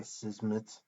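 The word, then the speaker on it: Szmyt: pronounce that name right his last name is s z m y t so there's a lot of consonants in a row uh I was not sure how to pronounce that but I think it's Andre sizmit um and I expect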